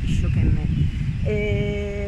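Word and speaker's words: 一生懸命: Vabbè, pazienza, che poi si legge Ishokenmei.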